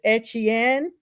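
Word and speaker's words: Achane: I know he said it's Etienne. His brother is now with the Saints. The Dolphins are actually signing running back Davon A-Chain, I'm just gonna say A-Chain, to a 4-year extension with $68 million.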